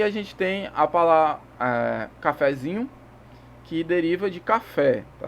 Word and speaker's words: cafezinho: Aqui tem um exemplo. Cafezinho. Ó, de novo. Cafezinho. É uma escadinha, ok? Depois do que a tônica aqui é o zin, a sílaba zin. E o fé é a subtônica. Então vai fazer uma escadinha. Como a primeira sílaba é átona, a gente faz uma subidinha. Então é cafezinho.